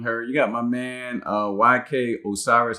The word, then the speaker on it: YK Osiris: All right, so in case you guys haven't heard, you got my man YK Osiris, I believe is how you say his name.